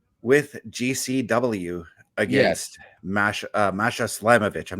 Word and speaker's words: Slamovich: the Friday night with gcw against Mash Masha slamovich I'm not sure if I'm pronouncing her name right yes mash slamovich and it is actually with the g under